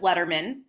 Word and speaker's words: Lederman: special guest Michelle Tillis Letterman rhymes with with David Letterman well not Rhymes but it is like David Letterman but my father-in-law's name